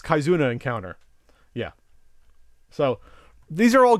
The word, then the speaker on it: Kizuna Encounter: 93 or so uh Mauna encounter kizuna encounter and see I'm not a Neo Geo expert I said it wrong it's kizuna encounter yeah so these are